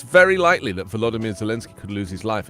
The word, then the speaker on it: Volodymyr: Volodymyr. I was doing Volodymyr. You've got to pronounce the V.